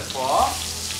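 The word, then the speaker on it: phở: Então a pronúncia certa é pho.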